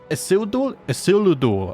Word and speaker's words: Isildur: Isildur, I think that's how you say it. I looked up some more Elven pronunciation videos, and I'll tell you what, guys, it's a struggle.